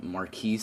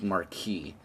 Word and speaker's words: Marquis: atomizer clone from tobacco i was saying marquis i think up top um recording this portion a day later and i realized it's marquee so ignore my mispronunciation of this atomizer it's marquee um from what i know now not marquis marquis so we're calling it